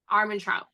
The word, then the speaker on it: Armentrout: J Laws, like Armandots? How do you say that? Jennifer Armentrout. Armentrout.